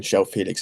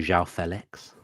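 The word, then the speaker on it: João Félix: Again, Joao Felix is the guy that Emery loves, and Emery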